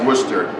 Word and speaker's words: Worcester: it's Worcester. It's one of those Massachusetts things.